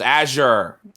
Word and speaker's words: Azure: really house pronounced yes I just pronounced Azir you guys are morons it's a sure okay well whatever the